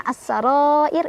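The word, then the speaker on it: السرائر: Bacanya panjang 4 atau 5 harokat. As-sarair. Ro-nya dibaca secara tarqiq karena ro-nya kan disukunkan karena kita berhenti. Nah, kalau ro disukunkan kita harus lihat huruf sebelumnya.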